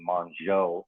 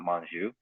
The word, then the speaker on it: Manzo: on staff megan manzo she told me how to pronounce her name correctly today monzo joe not manju but the rest of